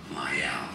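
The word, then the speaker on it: Mielle: know if it's meow like meal it's not meal do you think this is Mio I can ever pronounce the name of this brand I think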